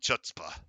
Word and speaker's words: chutzpah: It's pronounced if you're clearing your throat.